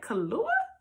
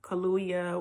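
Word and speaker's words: Kaluuya: to say it's kahlua kaluya whatever you probably don't have to pronounce the why but i'm going to say kahlua so it's played by him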